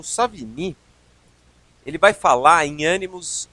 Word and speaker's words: Savigny: uma ideia dando prosseguimento savini frederich C Von savini que apesar do seu nome ter um sotaque uma pronúncia afrancesada por assim dizer ele era alemão ele no final do